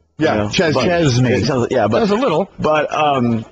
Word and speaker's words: Chesney: I just noticed the exact I've always called you Kenny Chznney as though the S is pronounced like a Z.